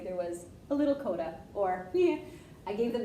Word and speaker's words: coda: there was a little coda, or yeah. I gave them the hint for the word coda today. It rhymes with Yoda, and all of a sudden they go, coda!